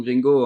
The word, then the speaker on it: GreenGo: Je pense que quand on parle aux gens au téléphone et qu'on leur dit Gringo, personne se dit que ça s'écrit G-R-E-E-N-G-O. Et ben finalement, si.